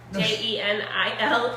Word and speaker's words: Jenilee: It's pronounced Jenilee. Jenilee.